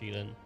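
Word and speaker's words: Xilin: That's where I got the XI like to be she. But it is pronounced Shilin.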